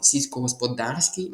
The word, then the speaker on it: сільськогосподарський: І вам треба ще запам'ятати, що сільськогосподарський має наголос на А.